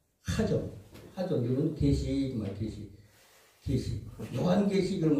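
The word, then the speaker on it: חזון: 맨 우측 상단에 보면 하존 그래. 하자에다가 키역자가 하나 더 붙었네요. 한글에는 없지만 히브리어 발음은 그래요. 하존.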